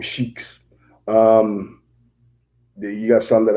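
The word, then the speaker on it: Sikh: Some of them are shake. That's s e i kh. I believe I'm pronouncing it right. Shake. The ones that wear the turbans. They call them shakes. Um or shik.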